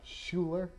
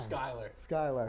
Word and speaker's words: Skylar: That was Skylar Robinson, not Schuler. Oh, yeah. Oh, my. Skylar.